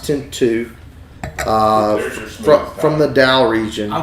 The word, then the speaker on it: Tinto: Pura oh wow uh tinu spelled Tinto pronounced tinu uh from the Dow